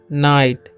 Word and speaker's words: night: तो इसे हम लोग पढ़ते हैं, इसे हम लोग पढ़ते हैं नाइट। Okay, one नाइट। अब देखिए यहाँ पर GH साइलेंट होता है।